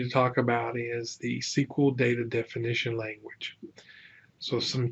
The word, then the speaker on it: SQL: so what is sequel sequel pronounced like I've been saying it is structured query